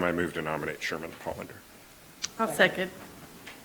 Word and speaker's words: Pollander: This time I move to nominate Sherman Pollander. I'll second. Pronounced Polander. Pollander.